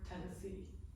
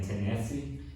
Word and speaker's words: Tennessee: Maybe the stress goes like at the end of the word Tennessee. Yeah. So that's why. I don't know. It just sounds. What are you guys saying? Tennessee?